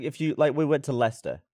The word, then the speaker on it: Leicester: Like if you we went to Leicester, right? How do you say that? I would say Leicester now, but I said Leicester.